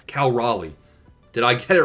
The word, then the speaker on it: Raleigh: It's like North Carolina. They said Cal Raleigh. Cal No, Raleigh. North Carolina. Cal Raleigh.